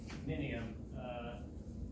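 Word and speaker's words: Mnium: It's kind of like an I after the M there.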